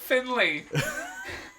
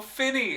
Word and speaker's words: Finney: and then you go, portrayed by the great Albert Finley. And I go, Finney, and you go, ah!